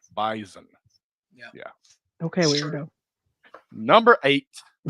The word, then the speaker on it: Bison: They want you to say it like a Z. Bison.